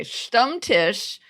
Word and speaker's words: Stammtisch: You also might want to spell it. Okay, Stammtisch, and I apologize to German speakers if I am really getting that wrong.